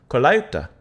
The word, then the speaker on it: Colaiuta: You have Vince I can never pronounce his last name. Colaiuta.